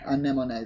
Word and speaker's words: anemone: Anemone, there we go. That's how you pronounce that, guys.